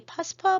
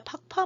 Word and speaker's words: 팍파: 이제 중요한 사람들이 이 파스파 문자라고도 하고요. 팍파 문자라고도 해요. 파스파라고 848라고 한자로 써서 그걸 파스파라고 읽기도 하는데 티베트로는 이게 원래 발음이 팍파예요. 그래서 요즘 팍파라고 읽어야 된다고 얘기를 하는데 이 팍파 또는 848